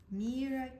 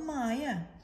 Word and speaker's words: Mera: my name is Mira Mera kept Mama's World close to her when she went back to school the next day my name is Mera not Maya she told Hayden proudly